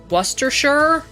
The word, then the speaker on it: Worcestershire: If you want to help with the pronunciation of the name, it's actually Worcestershire.